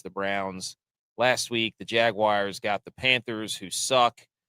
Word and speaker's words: Jaguars: Say it like that. Wars, not wires. Jaguars.